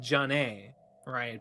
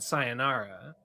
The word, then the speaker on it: sayonara: i said i said i said john a right but i should have said sayonara and now he's saying